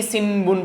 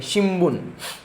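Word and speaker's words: 新聞: देखो ये लिखा है शिनबुन, बट इसको फ्लो में हमको शिम्बुन पढ़ना है। क्या पढ़ना है, शिम्बुन। अम का वो साउंड आना चाहिए, शिम्बुन। ऐसा नहीं कि सिनबुन पढ़ेंगे, शिम्बुन।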